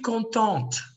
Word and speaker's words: contente: Okay, guys, je suis contente. Look at the board. Je suis contente. What is a silent letter? E, sir.